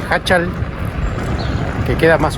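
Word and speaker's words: Jáchal: El objetivo de hoy, San José de Hachal, y no Hachal como lo venía pronunciando, San José de Hachal, que queda más o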